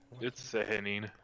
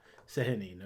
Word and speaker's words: Sehanine: was a shrine to Sehanine. I'll never say it right. And I'm gonna need to say it like a million What times. was it? We looked up. Oh, it's Sehanine. Sehanine, okay. Yeah, a moon goddess.